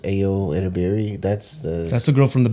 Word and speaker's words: Ayo Edebiri: That's I think it's pronounced Ayo Edebiri.